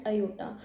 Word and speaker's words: Iota: looks like I and we pronounce is at Iota and the value of